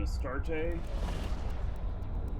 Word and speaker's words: Astarte: Alright, so this guy I'm using as scout, he's running an Astarte. That's how it's pronounced.